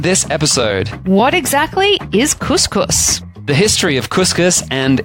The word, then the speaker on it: couscous: Couscous? Actually, I think that's the correct pronunciation if you're actually in North Africa. It's couscous and not couscous, but we're probably going to